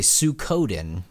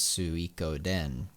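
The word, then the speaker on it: Suikoden: an idiot but same thing most people say sukoden because they didn't know it was su iko den um but yeah because if you pronounce it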